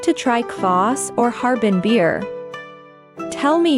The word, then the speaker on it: квас: This is kvass, a special drink in Harbin, which is fermented with bred lactic acid bacteria. It originated in Russia and is pronounced Kvass.